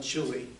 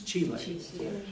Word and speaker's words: chile: an official state pronunciation it's not chile it's chile the the official but